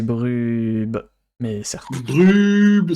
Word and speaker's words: Brub: Tu as mal prononcé Bien. son pseudo, puisque c'est Brub.